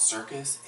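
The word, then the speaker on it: Surkus: like really cool like there's this app called circus amazing so it's it's spelled s urk us sound tricky you know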